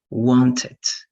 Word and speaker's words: wanted: You need to know when you're going to pronounce the ED like T, watched, washed, liked, traveled, fixed, and when you're going to pronounce that like ED, like wanted, started, right?